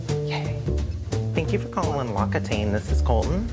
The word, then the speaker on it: L'Occitane: I did have a person recently tell me that I was pronouncing L'Occitane wrong. And if you've been with me for a while, you know that I learned how to pronounce L'Occitane from the brand, from a debacle we had many, many years ago. Here is saying it properly, so don't come for me.